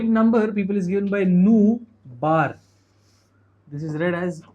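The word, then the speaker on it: ν: Frequency ka symbol over here will be using, this is pronounced nu.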